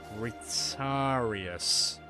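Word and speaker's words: Retiarius: So we just need a I need to be careful how I pronounce this. Retarius.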